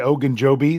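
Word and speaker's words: Ogunjobi: a player that was added today was Larry ogan Joby that's how you say it Jeff um but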